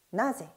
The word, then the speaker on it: なぜ: 자, 누구는 나래, 언제는 이즈, 어디는 도코, 그리고 어째서, 왜는 도시대, 나제 방금 전에 문항에서 풀어본 것이고요.